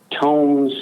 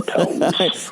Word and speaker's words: Tomes: Tomes, like with a long O, Tomes.